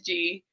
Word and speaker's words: Jee: His name is G, like the letter, but it's spelled out Jee.